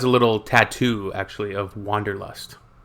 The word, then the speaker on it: Wanderlust: that we pronounce Wanderlust, and it's literally the desire to wander.